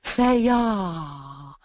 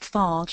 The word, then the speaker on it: Fage: told off by Sharon Fe it's Greek and you don't pronounce it Fage or F it's F so when you go